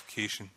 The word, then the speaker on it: caution: I keep pronouncing it wrong, it's caution.